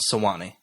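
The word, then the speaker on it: Sewanee: a literary magazine called the sawani review yeah sawani all right good job yeah well I put the I put it phonetically and bold next to it so I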